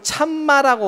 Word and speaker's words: 참마: 이게 산스크리트에서 카사마라고 하는 산스크리트가 있는데, 요거를 참마라고 원래는 옛날에 발음했다가 참마, 요거를 줄인 거야.